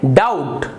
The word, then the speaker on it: doubt: ही नहीं रहा है, इसका मतलब है बी यहाँ पर साइलेंट है। आप इसका उच्चारण करेंगे डाउट, डाउट होने यानी किसी